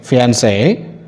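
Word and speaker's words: fiancée: get marry a woman whereas if you use double e at the end of this word the pronunciation is same fiancee that means a woman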